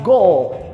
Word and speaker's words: goal: Quando alguém faz um go, no português a gente fala com som de U, no inglês eu vou falar goal.